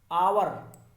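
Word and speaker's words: hour: आवर, देखिए एच से start हो रहा है, एच एक कॉन्सोनेंट है, लेकिन जो इसका साउंड है या प्रोनाउंसिएशन वो आ से स्टार्ट हो रहा है।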